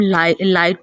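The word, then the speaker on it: light: लाइट हमने पढ़ना हो तो इसे हम लाइट पढ़ेंगे, GH प्रोनाउंस नहीं होगा, ये साइलेंट है।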